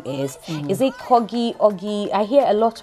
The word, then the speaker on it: Corgie: Okay, so Americans say Corgie. Me, I say Corgie.